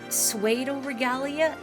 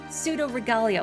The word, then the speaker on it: Pseudoregalia: scoot around it but it's not uh suo regalia Regal pseudo regalia okay see that's oh you're giving me the absolute worst most incorrect way of pronouncing it I see you're just